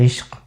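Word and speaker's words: इश्क़: तो इश्क के क में नुक्ता है, अश्क के क में नुक्ता नहीं है।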